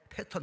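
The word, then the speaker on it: pattern: 색상, 패턴 맞죠? 그 영어 발음이니까 패런이라고 그래. 이거 고급 발음이에요. 그게요. T가 R로 발음되는 거.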